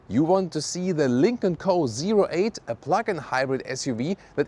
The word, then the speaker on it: Lynk & Co: Let's go with the Lincoln Co.08. That's also how you officially pronounce it.